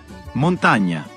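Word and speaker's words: montagna: El sonido que produce la ñ en español corresponde a la combinación GN en italiano. Montaña, montaña.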